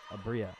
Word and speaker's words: Abria: I think it was Abria. Is it on our list of pronunciations? Abria, there it is. Yep, Abria.